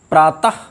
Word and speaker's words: प्रातः: इन दोनों की विसर्ग और ह की ध्वनियाँ एक नहीं हैं। हमको फिर एक बार देखिए हमको किस तरह से उच्चारण करना चाहिए। प्रातः, प्रायः, अतः, हरिः, गुरुः,